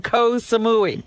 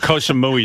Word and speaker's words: Koh Samui: Koh Samui sounds like death. Baba Booey. Koh Samui rhymes with Baba Booey.